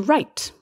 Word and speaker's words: write: the word uh to write with a pen to write w-r-i-t-e another silent w it's also interesting to